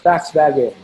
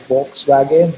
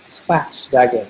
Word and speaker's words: Volkswagen: ibm bmw and paxwagon it's pronounced fax vague as uh my uh high school english teacher once corrected us okay it's not uh we read it as volkswagen but it's spats wagon i said what does